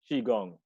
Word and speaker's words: qigong: How do you pronounce that? Qigong. So Okay. Qigong is an ancient Chinese martial art that's about mastering your breath and mastering your emotions and everything in your body.